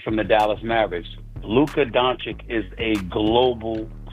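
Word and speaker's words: Dončić: is of was it how do you say the guy's last name Luca don don is it donic it's donic but I mean he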